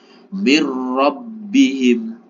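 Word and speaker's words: مِن رَبِّهِم: tidak ada Nun sukunnya mirbihim mirbihim lah yang salah gimana m bacanya mirbihim nah itu yang salah bacanya mirbihim nun sukun bertemu dengan ro maka cara membacanya adalah idgham bila ghunah idgham artinya masuk Bi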